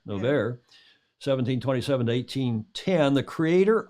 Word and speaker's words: Noverre: Noverre. Noverre, 1727 to 1810, the creator of modern ballet.